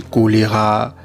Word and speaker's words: choléra: avez par exemple l'expression lorsqu'on dit choléra, ça s'écrit avec CH, mais on lit, c'est comme s'il y avait K.